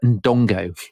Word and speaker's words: Ndongo: So this is Nzinga of Ndongo. Yes. Have I pronounced that right?